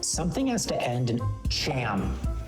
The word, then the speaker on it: Cham: Something has to end in cham. Cham rhymes with clam, Oh.